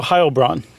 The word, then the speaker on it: Heilbronn: Is it Heil? It is. I just goofed. In German, you do the second syllable. Okay. For an EI. Okay. So Heilbronn. Yeah, Heilbronn, sorry.